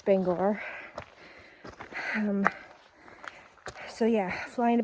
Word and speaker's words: Bangor: it i watched a youtube video about not pronouncing it bangor but it's bangor um so yeah flying to bangor across from the airport there's a little bus